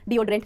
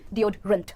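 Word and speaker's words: deodorant: डिओड्रेंट यूज करते हो, डिओड्रेंट नहीं डिओड्रेंट, अगेन ANT है, अंट, डिओड्रेंट। डिओड्रेंट, perfect.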